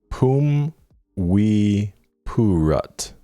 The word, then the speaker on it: Phum Viphurit: Pronounce Viphurit? Phum Viphurit.